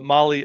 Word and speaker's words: Mahle: And of course, for our podcast listeners, Molly is spelled Mahle.